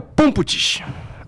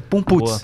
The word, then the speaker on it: Pumputis: Pessoal, hoje estamos com Pumputis. É assim? É Pumputz.